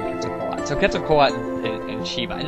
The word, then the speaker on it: Quetzalcoatl: actually be the word Quetzalcoatl or the name Quetzalcoatl. So Quetzalcoatl and Shiva, and that actually is how you pronounce the I actually majored in Mesoamerican archaeology.